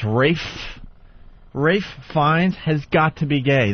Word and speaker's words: Fiennes: this I think Rafe even though his name is spelled Ralph yeah Ralph Fiennes it's race race finds has got to be gay that is my